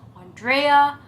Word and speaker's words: Andrea: So it's Andrea because it's Eastern European. So it's like you have to pronounce all the letters like Andrea.